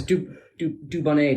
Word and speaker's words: Dubonnet: How do you pronounce that then? It's dubonnet, darling.